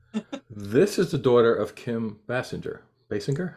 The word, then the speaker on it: Basinger: PETA 24 years after her mom did it's Bay singer thank you what's her name it's a hard